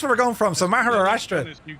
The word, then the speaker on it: Maharashtra: So, you're departing out of Pune in a place called Maharashtra in India. Jess, I did well with that pronunciation, didn't I?